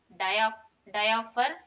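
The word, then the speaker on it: dioptre: SI unit of programs diaphor you can tell p is silent here then it is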